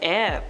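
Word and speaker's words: Aire: So Kylie had to clarify that it was actually pronounced the same way as the element.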